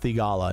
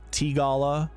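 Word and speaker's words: Theegala: but I'm pretty sure sure it's sahith and I think it's just theala not like tala yeah so it's sa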